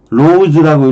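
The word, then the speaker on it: Rhodes: 로즈라고 읽어요, 로즈.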